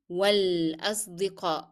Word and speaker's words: والأصدقاء: Then again, we are going to drop in pronunciation the sound of ألف and move directly to لام.